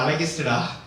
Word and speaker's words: Alagist: Like அவன் இன்னமும் கேட்டுட்டு இருக்கிறான், மச்சான் அந்த அழகேஸ் என்னாச்சு, டே அது அழகிஸ்டா, நீங்களால கரெக்டா பேரை ப்ரொனவுன்ஸ் பண்ணு.